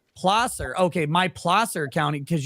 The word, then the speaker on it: Placer: For the record, it's Placer. Okay, My Placer County, because you can't fucking pronounce things in California.